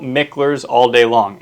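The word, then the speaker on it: Mickler: and write, it's spelled Miklers all day long. M I C K L E R S. But it's a local family name here. So it's pronounced Mikler. If you say Miklers, people dead giveaway.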